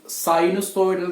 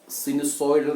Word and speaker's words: sinusoidal: Correct pronunciation sinusoidal എന്നാണ്, sinusoidal എന്ന് അല്ല.